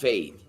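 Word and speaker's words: Feid: But production says that it's from Fade. F-E-I-D. I guess it's pronounced Fade.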